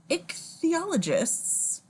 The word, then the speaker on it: ichthyologists: riffling or rifling sorry stop photograph of five ichthyologists that is the correct way to say that